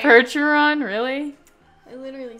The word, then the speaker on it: Percheron: out called the percheron hercheron said it right percheron really i literally said it right it's a